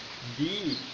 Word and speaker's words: the: তাহলে বিষয়টা কি দাঁড়ালো যে কনসোনেন্টের আগে উচ্চারণ হবে দা আর ভাওয়েলের আগে উচ্চারণ হবে দি।